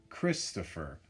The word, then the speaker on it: Christopher: Christopher. Christopher. That's my name. Christopher. It looks like Topher, but most people say tougher.